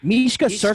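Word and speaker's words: Misha Cirkunov: He beat There you Mishka Serkinov. That's how you Mishka.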